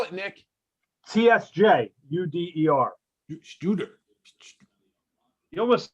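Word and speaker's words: Tsjuder: Spell it, Nick. TSJ UDER. Shooter. You almost said it like Bay City Rollers when you started saying that name. What is Shooter.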